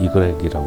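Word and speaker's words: i grec: 여기 뭐 발음은 이그렉이라고 합니다.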